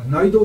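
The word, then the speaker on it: 内道: 内道っていうか、内道って読むんだけど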